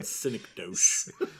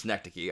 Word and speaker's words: synecdoche: just during this conversation i just keep saying cynic dose no that's not i know that's not how it's pronounced that's how i read